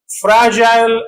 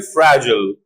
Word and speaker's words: fragile: Mobile or American also mobile to possibilities British fragile American fragile British agile American agile British riptile American riple